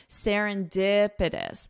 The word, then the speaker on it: serendipitous: Listen to my pronunciation. Serendipitous. So the syllable stress is on dipitous.